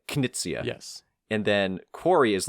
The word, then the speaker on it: Knizia: Reiner is actually like Knizia.